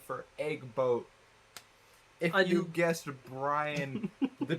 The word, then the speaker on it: EGgBOAT: what what is now egg boat uh the the small g is silent yeah um it's just